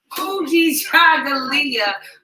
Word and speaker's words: Kujichagulia: Today is Kujichagulia. He got me saying it wrong. Kujichagulia, which is self-determination.